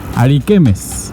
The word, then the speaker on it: Ariquemes: it is not the entrance to ariquemes, I pronounced it correctly Yes, ariquemes, I did a little search on Wikipedia and